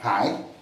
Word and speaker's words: Hai: Par exemple, si je prends Hai, ça c'est mon nom, il faut prononcer avec un H expiré, n'est-ce pas? Parce que les Français disent toujours un H aspiré. Comme ça, non, c'est expiré, mais pas aspiré, parce qu'on dit un aspiré.